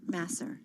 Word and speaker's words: Masser: How do you pronounce it? Is it Masser? Masser.